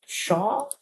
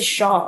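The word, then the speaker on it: pshaw: how do you say shaw? Or just say shaw. Okay, I thought I thought people say I thought I thought they pronounced the P. Okay, burning. The P is silent.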